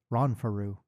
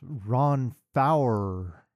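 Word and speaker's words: Ronfaure: I finally learned that it is not in fact Ron Faru. Oh, what is it? It's Ron Fower.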